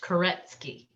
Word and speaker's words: Koretsky: And I know my last name is a little tricky, but it's pronounced Koretsky.